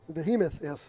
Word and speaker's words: behemoth: Behemoth, yes. Behemoth, that's it. Yep, Behemoth. Got to put the accent in the right syllable.